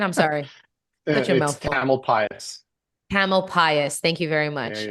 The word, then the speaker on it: Tamalpais: Tamalpais.